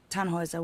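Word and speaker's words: Tannhäuser: what's your name Tannhauser we'd pronounce it tan Wazza with an umlaut German roots yes my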